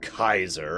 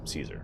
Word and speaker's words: Caesar: equip yet yes I know what should be pronounced Kaiser and I hate that name and I tend to associate that more with German rather than three so I'm gonna keep calling him Caesar if that's gonna go with you no it's